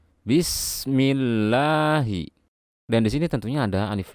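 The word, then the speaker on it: بسم الله: setelahnya adalah full jalalah jika sebelumnya terdapat harokat kasrah dibaca tipis jadi seperti ini bacanya Bismillahi dan disini tentunya ada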